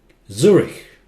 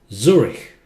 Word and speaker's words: Zurich: Zurich. This part is pronounced as K. Zurich.